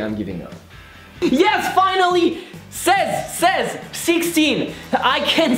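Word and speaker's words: seize: Says, 16. I can say something. Says, it's like seizure, but without the je.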